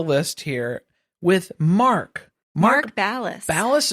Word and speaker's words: Ballas: Ballas or Bias? Ballas. Ballas? Okay. I mean, that's how they say it on Dancing with the Stars.